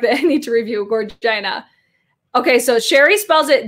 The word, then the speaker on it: Gorgina: Vagina rhymes with Gorgina. Gorgeous. So Gorgina.